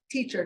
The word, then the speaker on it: TEICHR: of disasters and emergencies, which are called teacher, not spelled like a real teacher. And don't say teacher to a teacher because they're like, Sadie, it's not spelled that way. It's spelled T-E-I-C-H-R.